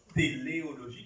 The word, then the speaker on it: téléologie: Non, téléologie comme la télé.